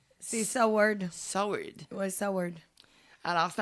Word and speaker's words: Seward: T'as Seward, je sais pas comment le prononcer. C'est Seward.